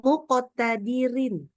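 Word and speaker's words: مقتدر: misalkan ee Misalkan kata muqtadirin kita wakaf muqtadirin maka kita baca jadi muqtadir Dir ya rnya tipis saja kalau yang EE misalkan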